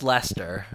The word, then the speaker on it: Leicester: leester is it leer no it's Lester I'm pretty sure about